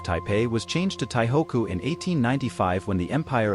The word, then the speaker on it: Taihoku: during the Japanese rule taipe was known as taihoku which is the pronunciation of the Chinese characters kanji for taipe in Japanese prior to the significant